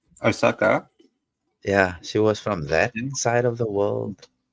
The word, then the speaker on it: Osaka: She was from Lusaka, if I'm saying it right. Osaka.